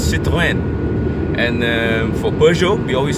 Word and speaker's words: Peugeot: So you say it, you think of the French food, and you think of the French wine, and you go the so Peugeot, you know, Peugeot, Citroën, yes, that's how you say it, Citroën.